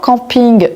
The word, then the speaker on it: camping: Encore une fois, camping vient de l'anglais donc je prononce camping.